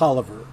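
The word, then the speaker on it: Taliaferro: paper after all uh this is talaferro talaferro or is it oliver is stanton stanton or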